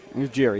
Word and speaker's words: Ujiri: Ujiri, yeah.